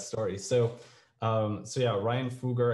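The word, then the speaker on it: Ryan Fugger: so um so yeah ryan fuger i think is is how he he pronounces it oh thank you um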